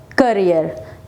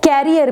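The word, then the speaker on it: career: She will be working hard to build her करियर। यस, इट इज करियर। कुछ लोग करियर को कैरियर बोलते हैं। कैरियर is wrong word, करियर is right pronunciation.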